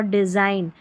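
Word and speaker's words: design: Number 35 पर देखिए GN है, इसको न पढ़ेंगे क्योंकि G साइलेंट है, तो साइन और डिज़ाइन, साइन और डिज़ाइन में G साइलेंट है, GN साथ में रहेंगे और G साइलेंट रहेगा।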